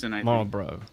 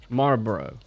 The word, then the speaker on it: Marlboro: be a robot anyway marlboro marlborough did i just do it there's an l in there there's a small little carl in there people say that this is